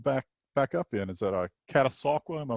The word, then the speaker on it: Catasauqua: Is that Catasauqua? Am I pronouncing that right? Correct. Yeah. Absolutely. Yeah, tell me about Catasauqua and the basketball tradition you came out of there.